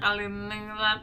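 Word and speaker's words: Kaliningrad: Untuk nama-nama kotanya ya, nama kotanya itu Ekningrat, bacanya Kaliningrat.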